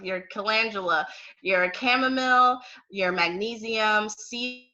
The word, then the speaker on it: calendula: vera, such as your calendula, sorry, I pronounced that wrong. Your calendula, your chamomile, your magnesium, sea buckthorn, and turmeric.